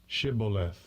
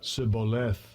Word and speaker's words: Shibboleth: Shibboleth, Shibboleth, 예, 이게 처음 거고요. 두 번째 거는 Sibboleth, Sibboleth, 그 차이를 알아들으시겠습니까? 예, 쉬하고 시가 맞습니다. 쉬하고 시. 그래서 이게 가장 세번역 성경의